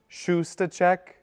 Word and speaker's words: Shustacek: So my name is Father Shustacek. It's pronounced Shustacek, like checking your shoes.